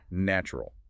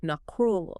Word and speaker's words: natural: A beginner reading that word will try to pronounce every single letter, natural. But in real connected speech, the middle syllable softens entirely. It sounds more like nakrul. Not cruel.